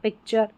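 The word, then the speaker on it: picture: इसका उच्चारण है चर। जब भी आपको स्पेलिंग के लास्ट में टी यू आर ई दिखे टी यू आर ई तो उसको चर पढ़ देना है। तो देखिए पिक हो गया फिर चर हो गया पिक्चर।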